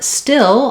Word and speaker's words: still: And then for still, like a still day or something still happening, we have the I vowel. I call that one the pink pig vowel. And it's more reduced and lax. It's not necessarily more reduced. It's less, it's not tense.